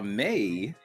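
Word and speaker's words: Mae: it's the same meh it's spelled m-a-e yeah m-a-e and then they put in parenthesis parentheses pronounced May m-a-y okay that's that's just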